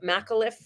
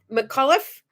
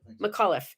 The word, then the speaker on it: McAuliffe: the day that christy i don't can never pronounce her name properly macklit mcliff yeah she was mcauliffe mcauliffe she was the teacher who was chosen to